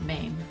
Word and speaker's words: Men: buy it on DVD Ennis Maine that's the Cornish pronunciation Maine not man is a strange experimental